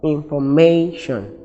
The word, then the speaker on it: information: secondary stress is information now let us break this word into syllables we have in for May SH now when we look up this word in the dictionary we realize that the word that carries the main stress is the third syllable information and we have